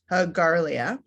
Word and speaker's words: Garlia: But it's Garlia, and there are, and the two meanings of Garlia.